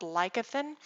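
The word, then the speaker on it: lecithin: a lot something like soy lecathin sometimes pronounced lycothen it's something that's used it's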